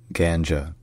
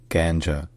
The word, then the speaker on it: Ganja: John first in English this city is called ganja ganja G G and then in is pronounced kja kja K kja all right if